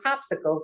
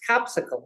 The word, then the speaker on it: Copsicle: They can go on there and they should check that regularly to see when the next Copsicle, and I'm not mispronouncing that. It's not popsicles, it's Copsicles.